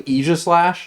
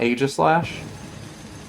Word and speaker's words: Aegislash: It's technically Aegislash, not Aegislash, because it's based off of the Greek sword Aegis.